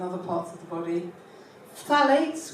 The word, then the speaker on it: phthalates: Phthalates, which nobody can pronounce, PHTH, phthalates are plasticizers.